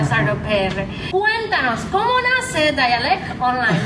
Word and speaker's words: Dialect Online: Cuéntanos, ¿cómo nace Dialect Online? ¿Lo estoy pronunciando bien primero? Sí, okay. Dialect Online.